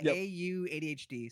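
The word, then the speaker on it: AuDHD: It's the It's the first syllable of autism then and then ADHD.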